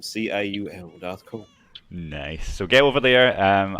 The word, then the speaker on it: DarthCaul: It's spelled like Darth Maul from Star Wars, but with a C instead of an M. C-A-U-L, DarthCaul.